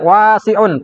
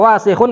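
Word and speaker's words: وسخ: Kadang orang bacanya panjang, wasihun. Mirip kayak wasiun pakai ain. Kalau wasihun kotor, kalau wa panjang, wasiun artinya luas. Ya. Wasiun luas. Jangan salah ya, jangan kebalik.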